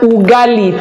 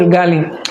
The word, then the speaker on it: Ugali: Ogali. Yes, that's what it's called. Or is itali or Ugali? Something like that. It's very close to that gal pronunciation. It's very close to that. So, it has been Ugali. Thank you very much, Sumaya. Ugali. It's called Ugali.